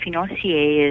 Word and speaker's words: financier: And one that caught my eye real quickly is the matcha tea financier. Did I pronounce that correctly?